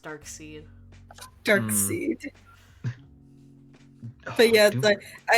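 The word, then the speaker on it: Darkseid: hated it emily's right his name should be pronounced dark seed dark seed but yes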